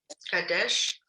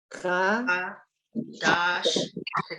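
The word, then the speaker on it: חדש: Kadesh. Look at the vowels. Cha. Dash. Good. Chadash. Sorry. Shir. Shir. Kadesh. Chadash.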